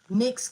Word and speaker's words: Nyx: Nyx came out. Okay, you said you believe I pronounced it right?